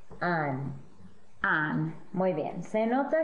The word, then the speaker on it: han: Y han. Han. Muy bien. Se nota que hay un H en cada forma, has, a, hemos, han, pero no se pronuncia la H, solo los vocales, has, a, hemos, han.